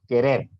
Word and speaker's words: querer: Si se dan cuenta, querer no lleva tilde, pero sí tiene más enfatizada la última sílaba, querer.